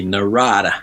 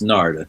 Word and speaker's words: Narada: A lot of people they say Narada. Okay, yeah. It's Narda, yeah. And what happened there was interesting.